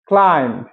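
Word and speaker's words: climb: lamp ভেড়া lamp ভেড়া সি এল আই এম বি ক্লাইম ক্লাইম বি এর উচ্চারণ হবে না ক্লাইম শুধু ম উচ্চারণ হবে ক্লাইম মানে কি আরোহণ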